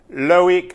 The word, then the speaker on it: Loic: known each other for such a long time, you could at least know how to pronounce my name. Just call me Loic, thanks.